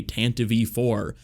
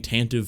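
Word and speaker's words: Tantive IV: feels odd to even say it that way tan to v4 because i've been saying tantiv for my whole life although to be fair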